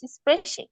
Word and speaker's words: spreche: ই আছে সেটা মানে হচ্ছে কথা বলা, ইস স্প্রেশে। আর যেটাতে স্প্রাখে মানে এ আছে, যেটাতে এ থাকলে ডয়েচে উচ্চারণ হয় স্প্রাখে, সেটা মানে হচ্ছে কি ভাষা।